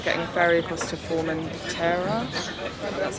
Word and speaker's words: Formentera: And then we are getting a ferry across to Formentera.